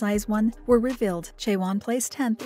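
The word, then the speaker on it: IZ*ONE: members of eyes one stylized as i z star one and pronounced as eyes one were revealed chaiwan placed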